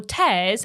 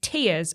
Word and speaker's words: Tears: have been feverishly debating how to pronounce the new title is it tears as in crying or tears as in ripping now this writer had